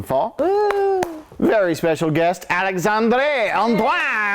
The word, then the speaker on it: Alixandrée Antoine: Very special guest, Alixandrée Antoine. You actually don't know how to pronounce her name, do you? That's actually how you say it.